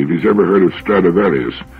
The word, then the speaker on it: Stradivarius: Ask anybody if he's ever heard of Stradivarius, which is the Latin pronunciation of the name.